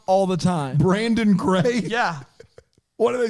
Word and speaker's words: Brandon Craig: people's names wrong i don't people pronounce my name wrong all the time brandon craig yeah what do they say i don't know brendan brendan all the time ma'am that's a